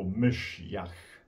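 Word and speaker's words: משיח: parola della Bibbia ebraica, la parola Mashiach, che ai tempi di Gesù aveva cambiato leggermente pronuncia nell'aramaico, Mashiach.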